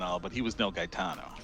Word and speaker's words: Gaetano: Gaetano? Daitano? Yeah, so it's G. Wait, how did he spell it? Geatano, I think. Geato. Gaetano? It's like guy, but like GEA.